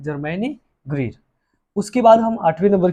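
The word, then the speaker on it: Germaine Greer: और इसकी जो राइटर है जर्मैनी ग्रीर है, जर्मैनी ग्रीर। यही तो बच्चों को उच्चारण नहीं आता है, प्रोनाउंसिएशन।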